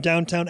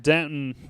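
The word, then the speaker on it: Downton: I don't know where she Oh, she's in downtown Abbey in Doctor Who. It's actually pronounced Denton.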